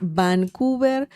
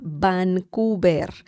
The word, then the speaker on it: Vancouver: Vancouver will be the Spanish pronunciation of the city Vancouver, okay? Uh Vancouver. Remember the V sound in Spanish is similar to B as in bell.